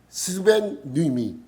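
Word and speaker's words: σβέννυμι: 여기서 소멸하다의 단어는 스베뉴미. 스벤미 발음을 잘해야 돼요. 그럼 잘못하면 욕같이 돼요. 스벤미 뒤에를 간조하면 안 돼요.이 단어의 뜻이 뭐냐하면 끄다, 진화하다.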